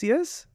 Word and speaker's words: Fusus: he's the founder of an award-winning company forus fusus yes I got it good do you know